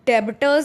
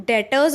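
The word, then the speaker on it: debtors: इसको डेबिटर्स नहीं बोलते हैं, इसको हम डेटर्स बोलते हैं। इसका जो बी है वो बी क्या होता है, साइलेंट होता है।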